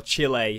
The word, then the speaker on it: Chile: And then you can go to Chile, or Chile, as people keep wanting to pronounce it.